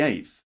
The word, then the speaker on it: eighth: do it with practice just the tip of the tongue comes under your teeth not thought or not all the way out just a little bit sir like that